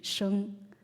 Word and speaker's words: Xi: For example, S would be sha, and then with H would be sheng. So let's move on to the next one. It's XI. So normally XI is pronounced as she.